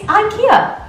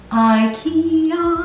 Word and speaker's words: IKEA: I'm like, that cannot possibly be from IKEA, but yeah, no, it's IKEA. That's not how you say it. IKEA.